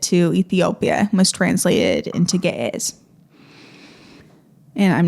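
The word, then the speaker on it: Ge'ez: somehow made it to Ethiopia was translated into G. And I'm not sure I'm pronouncing that right, but maybe my G- A.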